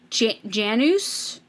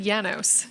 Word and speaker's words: Janus: And they said it's Janus. Is that how they say it? I thought he said Janos.